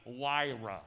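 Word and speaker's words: Huayra: and only five people in the world can actually pronounce the name of it correctly the pagani wira is for the name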